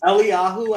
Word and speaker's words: Eliyahu: Eliyahu and Elisha.